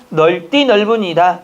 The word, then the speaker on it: 넓디넓은: 설명 중에서 맞는 것은 넓디넓은 이 표준 발음은 널 띠 넓은 이다 마디 틀려요 넓디 가